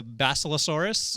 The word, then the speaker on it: Basilosaurus: This is I believe it's a Basilosaurus. I think you pronounced that absolutely correct.